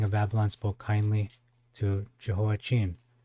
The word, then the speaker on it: Jehoiachin: The king of Babylon spoke kindly to Jehoiachin, or Jehoiachin, if you want to pronounce it in the Hebrew way. Jehoiachin.